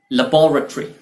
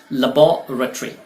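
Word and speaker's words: laboratory: यह है लेबोरेटरी, UK pronunciation के लिहाज से लेबोरेटरी, लेकिन यूएस प्रोनाउंसिएशन इसका टोटली डिफरेंट है और वो है लैबोरेटरी। लैबोरेटरी, जी हाँ, इतना डिफरेंस है इसमें।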